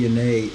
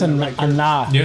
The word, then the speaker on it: Anae: Bradley Anae. Is it Anae? Is that am I pronouncing that sound like Nate? I think it's Anah.